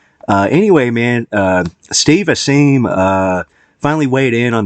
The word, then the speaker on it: Asheim: like I I would say it a little more I guess uh Jewish sounding like the Heim lick maneuver you know but it's uh Steve aim Steve aim uh I have trouble